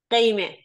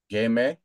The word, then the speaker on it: Gheimeh: Gheimeh. Game. Yes. It's very good. Yeah, actually it was a very good pronunciation.